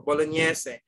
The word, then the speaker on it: bolognese: double s e okay but you pronounce it okay in the spanish no i mean italian it's important for bolognese but in the english term you can uh stick it polonies is additional of